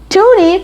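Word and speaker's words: toonie: going to show you toony canadians call it that because it is valued and it's also rhyming with looney it has a goldish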